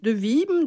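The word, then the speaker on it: de Wismes: Donc, on rappelle quand même que c'est grâce au baron Olivier de Wisme, hein, je ne sais pas si sur ça se prononce. De Wim, d'accord, qui, à la fin du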